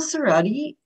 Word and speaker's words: Cerrotti: so grateful to have you with us cerrodi am i pronouncing that correctly yes yes is an award-winning